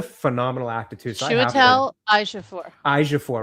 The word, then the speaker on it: Ejiofor: I'm going to call him Huey because I can never pronounce his name. Yeah, unfortunately, I struggle. He's a phenomenal actor too. So Chiwetel Ejiofor.